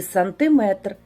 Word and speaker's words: сантиметр: Наголос в кінці на метр, міліметр і сантиметр.